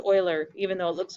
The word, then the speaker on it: Euler: for us euler's method and yeah it is pronounced euler even though it looks like euler so euler's